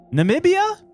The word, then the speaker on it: Namibia: N Namibia. Namibia. I thought it was Nambia at first. That is another place. That's Zambia, right? Not Zambia. Namibia.